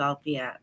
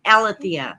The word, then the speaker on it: Alethea: to speak with you Alia althia my apologies how are you you said it right the first time right my my mother put that silent e in my name and so that's the